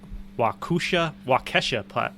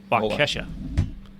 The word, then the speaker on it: Waukesha: And I'm not even going to try to pronounce the name of this town right. You tell me if it sounds familiar. The Waukesha patch. Yeah. Waukesha.